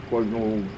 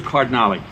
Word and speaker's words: Cardinale: Okay, we have Cardinal. Yes. I know it's hard to pronounce. Yes. The name is Cardinale.